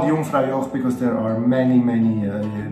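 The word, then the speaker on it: Jungfraujoch: It's with a J, but a J in Swiss German and German in general is pronounced E, same as I. E, okay? So Jungfrau Joch. Jungfrau Joch.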